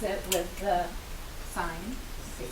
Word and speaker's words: sine: but we don't say sin A, we do pronounce it with the sine, okay, so it's like a long I.